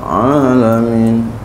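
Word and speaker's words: العالمين: benar tuh salah ya bukan pakai Hamzah tapi pakai Ain alamin dan ada dia itu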